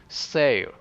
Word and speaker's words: sale: Sail. This contains dark L, or I might say silent L sound, which means that you don't pronounce the L like a letter.